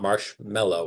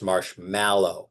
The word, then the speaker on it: marshmallow: my kids tell me it's it's not marshmallow it's marshmallow because it's spelled m a l l w very important pronunciation um and then finally